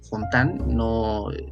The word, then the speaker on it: Fontane: se trata de johnny fontane fontán se la pronunciación pero pues que es